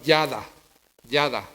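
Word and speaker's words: ידע: palabra hebrea que suena de esta forma y se escribe igual, yada.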